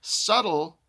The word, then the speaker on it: subtle: So you don't notice that there's a b in the word subtle. If you just spell it like it sounds su t-l or however you want to spell it but the b is in there.